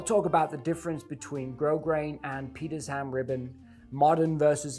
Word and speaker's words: Grosgrain: Grosgrain is French, pronounced Grosgrain, and means big grain, referring to the ridges you see in that specific type of ribbon.